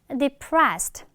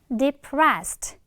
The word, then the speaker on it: depressed: 자, 그 다음 단어는 depressed. 한 번 더 depressed. 끝에 드 발음은 t 이런 식으로 살짝만 발음해주면 되는데 이게 우울한 거야.